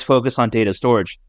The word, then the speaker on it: Storj: know storage you know it's spelled storj but it's pronounced storage but yeah besides that